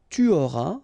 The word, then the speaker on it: tu auras: J'aurai, tu auras, final S not pronounced, il aura, elle aura,